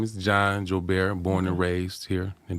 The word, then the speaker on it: Joubert: We want to welcome, and I'm going to be Creole tonight because I'm going to pronounce his last name like it's supposed to be pronounced.